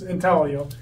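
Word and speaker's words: intaglio: is referred to as intalo it's spelled intalo but it's Italian and I'm Italian so it's italio um and it actually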